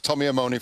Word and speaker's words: Tommy Amone: We're going to get pronunciations right, I promise you, on Sky Sports. We're going through them gradually, so it's Tommy Amone for everybody else.